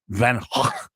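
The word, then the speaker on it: Van Gogh: to say it no you're supposed to just basically spit on a person you're talking to it's van HW the guy's name was Van HW and I don't know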